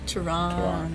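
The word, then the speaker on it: Teheran: Tehran.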